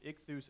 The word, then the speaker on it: IKTHOOS: It's spelled phonetically. People get on to me. They're like, that's not the transliteration. Okay. How would you spell it? And then I rattle off the Greek words to them. Like, okay, I'll back off. Because it really is IKTHOOS as far as the phonetic spelling.